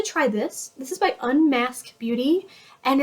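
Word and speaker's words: Unmasque: would like to try this this is by unmasked Beauty and it's spelled really cute unmasked Beauty um u-n-m-a-s-q-u-e and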